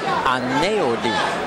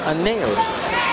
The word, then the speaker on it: Aneudi: And he said, Aneudi. Aneudi. There's that L sound. There's an L sound that comes out from the EU because his name is spelled A-N-E-U-D-I.